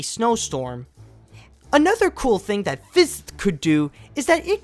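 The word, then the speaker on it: Fizt: What they came up with is a program called Fist. And yes, I pronounced and spelled that correctly.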